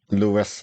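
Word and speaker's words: Louis: reading it is The Black Arrow by Robert Lewis Stevenson it's not Robert Lis Stevenson damn it anymore than that doctor's name is pronounced jaal everyone knows it's j anyway let's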